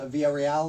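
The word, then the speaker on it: Villarreal: are sisters and uh is your last name pronounced via real is that how you say it yeah i got it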